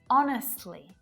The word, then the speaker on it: honest: The letter H can be silent too, and in a few different ways. Sometimes it's not pronounced at the start of words, like honest, honor, and hour, and it can also